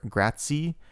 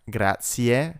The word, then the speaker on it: grazie: Also notice that in a lot of movies they pronounce this word grazie. It is in fact grazie, ie at the end.